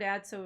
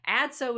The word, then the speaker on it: Adso: It's like, Adso is a real name, although everybody will tell you that it also rhymes with Watson, right?